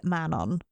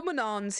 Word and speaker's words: Manon: Shall we start with Manon? Absolutely. There'll be no Manon here. No Manons here. No, sorry, no. How do the Americans say it? Manon? Manon? Manon. Manon. Like Manon. You're a sheep. Manon.